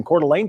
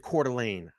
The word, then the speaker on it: Coeur d'Alene: Kaylee Gonzalez and Madison even he pronounced it Coeur d'Alene I said that everybody's like no it's quarterly is it quarterly in a Quarter Lane I say I was saying Coeur d'Alene but someone was saying Coeur d'Alene the other